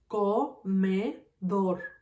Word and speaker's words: comedor: In this word, comedor, my strongest syllable is dor.